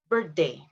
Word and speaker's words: birthday: Remember to say the TH part. I know this is one of the most difficult sound for Indonesian is to pronounce the TH part. I don't know how many times I've heard this word instead of the real word. Birthday. Happy birthday. So instead of happy birthday. Okay, so TH sound, especially in the middle, is very difficult for Indonesian to pronounce.